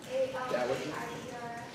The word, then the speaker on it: Algiers: A-L-G-I-E-R-S. Oh, Algiers. Algiers. Oh, Algiers. Okay. Algiers is when they were having problems with the pirates. Oh, okay. Yeah. Sorry. Yeah. No, that's okay. Yeah, Algiers.